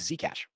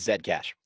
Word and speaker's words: Zcash: and we see here this is zcash um or i apologize i say it wrong it's zed cash so within um hey